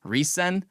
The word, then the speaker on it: RESCENE: girl group that debuted 2 years ago named Reson. And so, in Korean it's Lisena and in English it's r e s c e n e like Resene, but it's pronounced Reson.